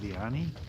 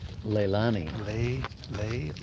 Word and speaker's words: Leilani: just basically I can't how do you pronounce it Leoni Leilani Leilani so Leilani are people